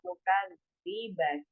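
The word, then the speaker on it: نُكَذِّبَ: Lan nukadziba. Bacanya pendek ya. Ini basi ya, nukadziba karena ada lan di depan kemudian ya betul, insya Allah kan nukadziba.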